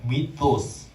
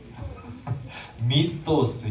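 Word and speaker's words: μῦθος: 뭘까요 허탄한 이야기 이것을 헬라어로 위 한번 발음을 해볼까요 미토스 미토스 여기서 미스가 나온 거예요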